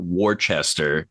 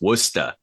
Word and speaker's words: Worcester: But yeah, no, in New England, it's not Worcester, it's Worcester. I was at Rock and